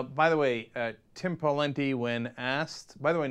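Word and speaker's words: Pawlenty: me after every show it's not Paul lente it's pen the pen okay anyway uh so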